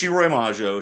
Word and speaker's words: Shiroi Majo: Okay, so it's a Shiroi Majo. It's a little I hard to. He said it wrong. I want to put that out there first. I got it from him. Yeah. So it's Shiroi Majo.